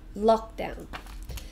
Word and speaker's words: lockdown: word lockdown lockdown so two syllables oh we stress the first one lockdown so state of isolation